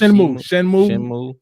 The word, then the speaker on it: Shenmue: Shenmue.